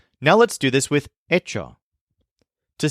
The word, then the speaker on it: hecho: Ito spelled h e c h o but pronounced EO remember that we can use any of our